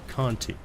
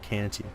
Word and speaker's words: Canti: is the robot from FLCL and it is pronounced Conte not Canty like most people do the bottom you know